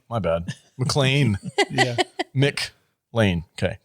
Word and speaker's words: McClane: pulling a Kadish and you keep pronouncing his name wrong and it's making me crazy. It's not McClane? It's McLean. You keep saying McCain. Do I say You McCain? do. You're saying John McCain.